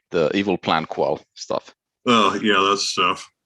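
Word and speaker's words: EvalPlanQual: It sounds a lot like the evil plan qual stuff. Oh, yeah, that's stuff. The evil plan qual stuff? Eval plan qual. Oh, no, Recheck stuff. I'm pretty sure the correct pronunciation is evil.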